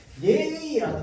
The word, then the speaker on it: 예의: 얘는 무조건 예로만 발음해야 됩니다. 그런데 뒤에 의는요, 이렇게 발음해도 되고 이렇게 발음해도 됩니다. 예의. 그런데 앞에 얘는 반드시 예로만 발음해야 돼.